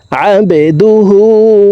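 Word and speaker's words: عبده: বাকলার হরফ নিচের দিকে ধাবিত করে ধাক্কা দিয়ে উচ্চারণ করব আবেদুহু ওয়া রাসুলুহ ওয়া আশহাদু আন্না মুহাম্মাদান আবদুহু ওয়া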